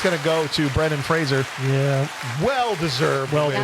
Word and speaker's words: Fraser: Well, that means with 5 out of 7 votes, it's going to go to Brendan Fraser. Yeah. Well deserved. Well win. deserved. Rhymes with razor.